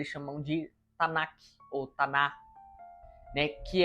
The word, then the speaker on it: Tanakh: É isso que eles chamam de Tanakh, ou Taná, né? Se escreve Tanakh, se pronuncia Taná.